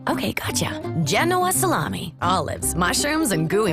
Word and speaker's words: Genoa: do you know a salami no no it's genoa emphasis on the j okay gotcha genoa salami olives mushrooms and gooey mozzarella try the